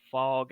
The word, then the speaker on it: Phog: head coach is named fog allen but the fog is spelled p-h-o-g oh nice that's like